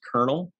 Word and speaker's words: colonel: tell us why it's spelled colonel but pronounced kernel it's the germanic orange